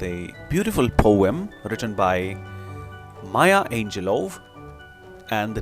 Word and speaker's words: Maya Angelou: Let's pronounce the word correctly, her name correctly, Maya Angelou.